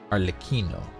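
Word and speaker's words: Arlecchino: the yalon story Quest you do say the L Okay so arloquino arlikino got it I like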